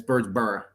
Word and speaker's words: Birdsboro: Born and raised in Birdsboro, and it's Birdsboro, just so you know. That's how you say it. Birdsboro. Birdsboro. That's how you know you're from here.